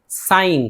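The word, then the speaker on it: sign: कभी कभी एन से पहले आया हुआ जी खामोश रहता है, जैसे कि साइन, तो देखिए जी एन साथ में है यानी एन से पहले जी आया है, लिहाजा जी को नहीं पढ़ेंगे, साइन पढ़ेंगे, सिग्न नहीं पढ़ेंगे, न साइगन पढ़ेंगे।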